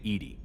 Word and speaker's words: EDI: Why are you named Edy? ED is the phonetic pronunciation of EDI.